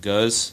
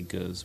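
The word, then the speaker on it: Gose: And then what you're talking about is a Belgian style called Guz. That's how you pronounce it, Guz. But a lot of people say Guz.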